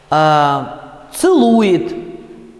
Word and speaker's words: целует: и опять после ц на месте ударного э произносят звук, опять уже известный, звук и с призвуком э. Ну то есть шепчет, там у вас э под ударением, да? Шептать, шептаться, вот между и и э. Целует, жевать, вот именно так, да?